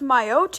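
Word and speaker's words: Mayotte: think yako said wrong I think it's actually pronounced myotee and myotee is an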